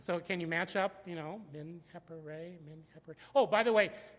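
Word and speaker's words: Menkheperre: And so can you match up, Menkhepere. Oh, by the way, you notice that the Re sign comes first, but is pronounced last, okay?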